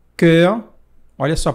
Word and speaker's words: cœur: Ton, que significa teu, e cœur, olha só a pronúncia, cœur, que significa coração.